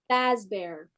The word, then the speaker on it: Fazbear: But Freddy Fazbear's Pizzeria, that's Fast the Bear. Fazbear.